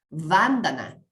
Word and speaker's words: Vandana: y la palabra Bandhana, que se pronuncia así como si fuera una esdrújula, Vandana, significa saludo, significa respeto, homenaje, veneración, incluso culto.